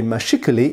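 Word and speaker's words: mâchicoulis: it here mashikuli now the reason i say mashikali is because what i did is i went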